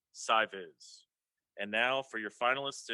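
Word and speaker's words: SciVis: visualization high school which until now i thought was pronounced skivvies but i've been informed it's pronounced si viz and now for your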